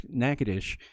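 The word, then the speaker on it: Natchitoches: spelling Nacogdoches right there that's nakadish in Louisiana so it's a little different pronunciation but very near the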